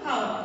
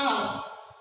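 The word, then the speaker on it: hour: No, we don't pronounce a how, we pronounce it as a our, and our, why? Because the initial sound is of a O, which is a vowel, and so you use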